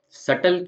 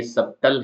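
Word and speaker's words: subtle: next spelling है सटल सटल में B silent है और उसका मतलब होता है सूक्ष्म तो यह जो सटल की स्पेलिंग है जिसके अंदर बी साइलेंट है दिखने में यह सबटल है लेकिन है वह सटल जिसका मतलब होता है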